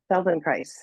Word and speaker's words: Feldenkrais: So I'm going to do F and E, L and D, E, and then N, Feldenkrais, K, R, A, I, S. Feldenkrais, it rhymes with paradise.